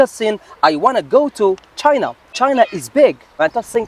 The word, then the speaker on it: China: اوكي في اللغة الإنجليزية ما نسموهاش شاينا، نقولوا تشاينا.